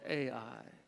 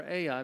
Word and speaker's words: Ai: the one that's called Ai. We call it Ai because that's how you spell it, Ai.